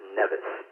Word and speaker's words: NVIS: We normally pronounce it NEVIS.